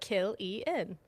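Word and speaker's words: Cillian: So, I put in the comments how to pronounce it. Kill en and I appreciate it.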